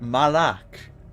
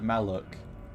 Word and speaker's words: Malak: Yeah, why did she say it like that? Malak instead of Maluk.